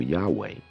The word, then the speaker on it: Yahweh: with the name Jehovah the three-syllable name Jehovah where just on a basic level the god of the Bible Yahweh did not have three Bible and didn't have three syllables it was just two I think it started